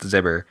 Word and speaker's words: Xiber: Xiber, but it's pronounced Zibber.